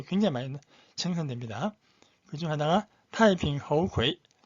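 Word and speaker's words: 太平猴魁: 세 번째 이름도 좀 특이한데 타이핑 허우ქვ이, 타이핑 허우ქვ이, 우리 한자 발음은 태평후계.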